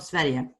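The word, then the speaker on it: Sverige: everything yeah imagine no swedish yeah it's called sveria you know and denmark is actually called dominic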